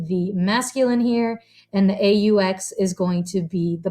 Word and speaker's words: aux: together to become o a ux now once again the a u and the aux both sound the same but they're uh they're spelled differently okay so the au is